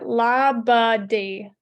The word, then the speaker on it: Labadee: Labadee, is that how you say it? No idea. Anyway, Brianna, how do I say it? You've probably done the pronunciation Google. Yeah, Labadee.